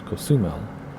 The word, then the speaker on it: Cozumel: Now in Spanish, the penultimate syllable always gets an accent unless you see an accent mark. And there's no accent mark, I don't think. So it's Cozumel.